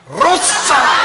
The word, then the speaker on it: Rosa: Nikki who is that her name is Rosa Rosa but you have to say it like you have to really roll it long pause you have